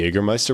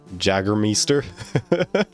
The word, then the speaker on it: Jägermeister: Good pronunciation on the Jägermeister, by the way? Really? How do you think Americans say it? Jaggermeister?